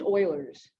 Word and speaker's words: Euler: is euler's method which his name looks like it's spelled fuelers it's pronounced oilers that's it so what